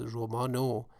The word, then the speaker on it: رمانو: roman ro changes to romano. So this o, which is indicated by u actually, but in pronunciation it is pronounced as romano. It means the novel as the object. Maman romano khund.